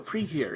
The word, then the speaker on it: Precure: Precure. It's just pre and cure.